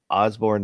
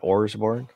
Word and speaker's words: Osborne: So now I have to remember that it's Osborne, not Orsborne. And he's put an E on the end of it. So match up. Technically, the recording artist is pronounced Osborne.